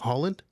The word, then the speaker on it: Holland: Holland. Yes. Just like the country.